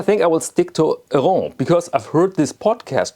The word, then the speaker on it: Héron: And I think I will stick to Héron because I've heard this podcast, Totally Tintin, made by two Canadians.